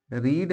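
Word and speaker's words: read: फिर वर्ब क्या है रीड है तो रीड का यहां पर थर्ड फॉम रेड होता है लेकिन स्पेलिंग वही लिखा जाता है इ द न्यूज पेपर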